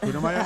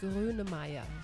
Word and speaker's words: Grönemeyer: How about Kunemeyer? Herbert Grönemeyer. Yeah. Wait, I think I've heard of him. All say it right. slowly. Herbert Grönemeyer.